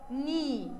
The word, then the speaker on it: knee: Knee. أنا عندي الكي دي silent. يعني إيه silent؟ قلنا written but not pronounced. يعني بكتبها بس ما بنطقهاش.